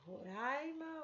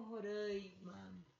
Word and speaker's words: Roraima: e também roraima roraima aqui como tem um vizinho no meio entre o a vogal e o ah não necessariamente a gente teria que nasalizar roraima poderia usar aberta roraima